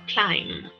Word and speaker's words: climb: Esta letra del final en esta palabra no se pronuncia. Por lo tanto, cuando yo voy a decir o voy a indicar esta acción, voy a pronunciarlo climb, con una M al final.